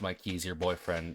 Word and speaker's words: Mikey's Your BF: It's spelled Mikey's Your BF, but it is pronounced Mikey's Your Boyfriend, and oh my god, it is...